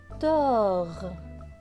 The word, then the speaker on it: dort: Il est écrit Bo zo dor. Le T à la fin, on ne le voit pas très bien, il est écrit en gris clair, donc il ne se prononce pas.